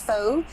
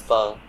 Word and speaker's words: pho: pan it's a vietnamese foe it only takes ten pronouncing it wrong so it's not full it's fun i'm doing it with